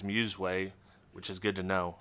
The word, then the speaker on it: Musway: some Muse way products I've been saying must weigh Forever Until You corrected me and tell me it is Muse way which is good to